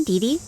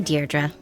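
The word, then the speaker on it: Deirdre: Hi, Deei. Dear Dra, I know it's got that tricky second syllable, but I figured it out by age two. Don't give up. You'll get there. Sorry. Hi, Dearra.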